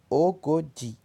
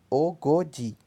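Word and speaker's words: ogoji: Então, 40 vezes 2, perdão, 20 vezes 2, que é o 40, pronuncia-se Ogodi. Ogodi.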